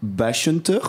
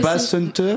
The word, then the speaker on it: Basshunter: Alors, je ne sais jamais comment on le prononce. Moi j'ai toujours dit Bashunter. C'est peut-être Moi aussi. Basshunter. Mais c'est à l'allemand, donc Bachhunt.